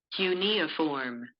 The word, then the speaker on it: cuneiform: able to find out tell you how it's pronounced cuneiform cute oh my gosh cunia form eunia form I never even knew how that